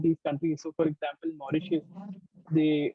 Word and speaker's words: Mauritius: countries so for example Mauritius they a lot of people could not even pronounce their name you know they would call it Marie for example okay Suriname